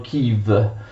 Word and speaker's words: Київ: che gli ucraini scrivono in questa forma e pronunciano kim in italiano attenzione chi lo può essere traslitterato